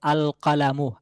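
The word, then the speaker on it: القلم: যদি এটাকে আমরা নির্দিষ্ট করে বলতে চাই যে কলমটি, তাহলে আমাদেরকে বলতে হবে আল কালামু, আল কালামু, লামটি উচ্চারণে আসছে।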